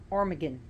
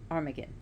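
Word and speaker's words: Amergin: i n Aran aragan the Druid armagan I have to think of the word Armageddon I'm sorry or American so that's that's through mon monics so armagan so they went to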